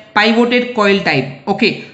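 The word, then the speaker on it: pivoted: कई लोग इसको पिवोटेड भी प्रोनाउंस कर सकते हैं, बट I will pronounce it पाइवोटेड coil type.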